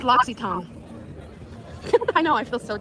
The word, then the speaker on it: L'Occitane: I thought it was L'Occitane. It's L'Occitane. What? L'Occitane. Huh? I thought it was L'Occitane. No, I heard you. It's pronounced L'Occitane.